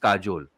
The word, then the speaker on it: Kajal: so I was like it's spelled k-a-j-a-l but it's pronounced Kajol and it shows the